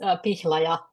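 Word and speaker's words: Pihlaja: my name is uh my surname that's pronounced Paya it's the Rowan tree so which is the national tree of Finland and uh I'm quite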